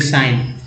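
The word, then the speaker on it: sign: जी एन को ना बोलते हैं, जैसे कि साइन।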